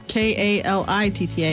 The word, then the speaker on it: Kalitta: She is Coletta. It is Koleetta, but that's not how it's spelled. No, right? it's Kalitta. I'm actually named after the drag racing family.